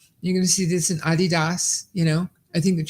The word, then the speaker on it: Adidas: Adidas right that's what we're talking about it's Adidas that is the way you pronounce it do you understand that's the way that's the way it's pronounced not your American Adidas so I Potter and I were talking about